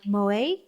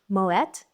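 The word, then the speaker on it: Moët: Houses like Moa actually Moat because the owner who established the house was Dutch. So it's pronounced moette.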